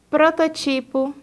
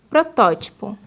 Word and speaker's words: protótipo: Prototipo, quando o correto é protótipo.